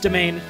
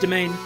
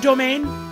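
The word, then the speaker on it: demesne: set again it's pronounced domain it's a it's french so it's pronounced domain kind of like domain because it means a similar thing my mouth is all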